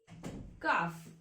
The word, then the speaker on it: calf: Elephant calf. Calf. L is silent.